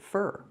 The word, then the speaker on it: for: For is not stressed, so we don't pronounce it for, we pronounce it fur.